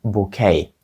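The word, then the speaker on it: bouquet: нашого слова букет правда але вимовляється як букей тому що походження в нього французький і ось це закінчення в кінці у французькій мові глухе так само і в англійській зробили bкей букей означає букет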